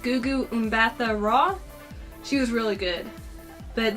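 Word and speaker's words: Gugu Mbatha-Raw: Minnie Driver, and I think her name is pronounced Gugu Mbatha Raw.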